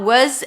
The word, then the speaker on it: was: So all I do is reduce the vowel in the middle to a schwa. Was, she was, he was, it was. When it comes to were, the W stays, were.